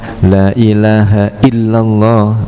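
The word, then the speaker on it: لا إله إلا الله: Lanya harus dibaca dengan panjang. Tidak boleh dibaca pendek. Kalau pengucapan kita lailahaillallah.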